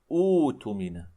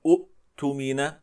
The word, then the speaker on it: اؤتمن: أبدلناها بالواو لأن هذه الواو تناسب ضمة همزة الوصل. أوتمن. لاحظنا إخواني الكرام؟ فبهذا الشكل يكون البدء الاختباري بهذا الفعل، ولا نقول أؤتمن، فالعرب كما ذكرنا لا